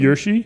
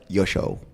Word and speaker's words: Yoshi: Is it Yoshi, or is that pronounced correctly? Yoshi? Yeah, is it Yoshi or Yoshi is actually pronounced correctly. Okay. Okay, good. Okay, I thought it was Yosho.